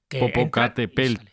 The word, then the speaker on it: Popocatépetl: Popocatépetl.